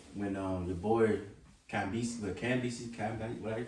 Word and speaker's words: Cambyses: pretty cool because it says when your boy Cambyses, what do you pronounce that? Cambyses.